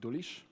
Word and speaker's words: Dulisz: It's also spelled, pronounced Dulisz, which is very hard.